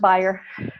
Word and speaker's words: Bayer: for by a corporation that would be bare Bayer Aspirin I was a chemicals company over there and pronounced buyer German so I'm gonna pronounce the way they do I didn't speak German